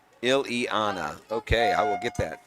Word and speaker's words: Ileana: all the way around it's pronounced ill-ianna okay i will get that selena ileana calyx all right let's